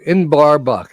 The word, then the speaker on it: Inbarbuck: Inbarbuck. You spell it I N B A R and buck.